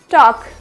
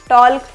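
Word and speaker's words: talk: correct हमारी नहीं हो पाएगी तो इसलिए हमें साइलेंट लेटर पढ़ने हैं तो नेक्स्ट आता है काफ क्या हो जाएगा काफ नेक्स्ट टॉक क्या होता है टॉक अब इसे भी टॉल पढ़ते हैं टॉल्ट पर ये टॉल्ट नहीं होता य क्या होता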